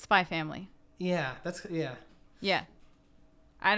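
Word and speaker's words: Spy×Family: some content I watched spyx family like in Japan the X isn't really like an X oh yeah in Japanese it's spy family yeah that's yeah yeah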